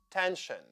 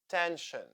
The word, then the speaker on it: tension: Tension. Sion here sounds shin. Tension.